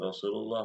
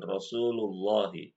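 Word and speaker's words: رسول الله: jabalin jabalin radallahu anhuna Rasulullah Rul bukan Rasullah Anna rasulallahi Anna rasulullahi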